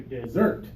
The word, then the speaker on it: dessert: now desert desert good the stress is what matters okay the syllable stress the strong first syllable or the strong second syllable that's what's important when we talk about these two words uh what do you